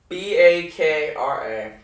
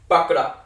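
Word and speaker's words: बकरा: Bakra. That's going to be a hard one. Bakura. You gotta roll the R. Yeah, you have to roll the R in this. Bakura, which means male goat.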